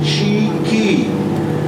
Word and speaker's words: chickee: build by the Seminole Indians that's how you pronounce it cheeky ladies at the hospital slaps on together buddy